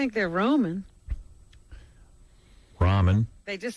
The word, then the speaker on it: ramen: Those I things, just didn't know if they were Roman or ramen. No, it's ramen. That's But how what do you say. spell it? R-A-M-E-N. I thought those were Ramon noodles. That's ramen. That's ramen noodles.